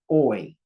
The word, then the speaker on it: hoy: Here's one syllable word, hoy, because you don't pronounce the H. Remember the H is silent.